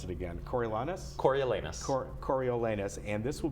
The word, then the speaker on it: Coriolanus: this will be I'm going to let you pronounce it again Corey Lana coriolanus court Coriolanus and this will be at the